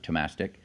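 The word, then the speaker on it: Thomastik: I'm using Thomastic, or some people pronounce it Tomastic, jazz flats.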